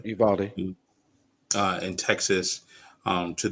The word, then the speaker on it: Uvalde: city wrong but you is it you valde is that how you say it yeah okay uvalde uh in texas um